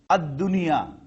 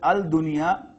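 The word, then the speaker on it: الدنيا: Examples of Dal now, Ad-Dunya. It will not be announced, it will not be pronounced as Al-Dunya. Lam will be silent.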